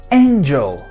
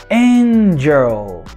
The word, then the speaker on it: angel: Qual que é a sílaba tônica na palavra angel? Exactly, N, no início. Então, o schwa aparece na segunda sílaba, no j, j, jl, jl. Olha só, sem movimento quando eu falo a vogal, jl, jl, jl, jl, angel, angel.